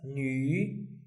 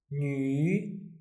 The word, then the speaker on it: 女: This 2 dots makes U, Ü, so it will be pronounced as 女, 女. Say it out loud. 女, third tone.